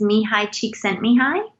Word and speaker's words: Csikszentmihalyi: A Hungarian psychologist, his name, and I believe I'm saying it right, his name is Mihai Csikszentmihalyi, and he's out of the University of Chicago, I believe.